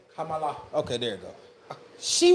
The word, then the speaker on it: Kamala: Okay, is it Kamala? Is it Kamala? Kamala? It's Kamala. Is it Kamala? It's Kamala. It's Kamala. Let me show some respect to the name. I just didn't know how to say it. I didn't want to say it wrong.